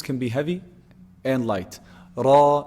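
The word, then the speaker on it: ر: be heavy and light raw is heavy ri is light and so so it's actually pronounced based on its location or where is it located in the word there's a kasra before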